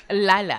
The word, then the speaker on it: Leila: That is how you guys say it, but okay, how do you say it? Leila Al-Fayed. Lila, and I'm sure Lala Ali